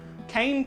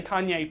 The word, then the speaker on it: cayenne: some cayenne pepper on however people spell it say it cane pepper I say Kayne pepper only because it's weird but and obviously Kayne